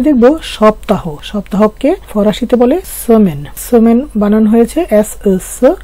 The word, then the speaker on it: semaine: সপ্তাহকে ফরাসিতে বলে সেমেন। সেমেন বানান হয়েছে এস এস, এম এর সাথে আ ই যুক্ত হয়েছে মে, কারণ আ ই এর উচ্চারণ কিন্তু এ হয়, এই জন্য এম এর সাথে আ ই মিলে হয়ে গেছে এ, মে।